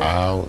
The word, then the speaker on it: how: The first thing to remember with that one is that there's a sound at the beginning of it, so it's how. Right. With that ow sound, it's two sounds. It's ah and oo put together.